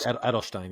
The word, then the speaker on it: Edelstein: how do you say that Ed edstein Mark Edelstein yeah Edelstein yeah he got a couple of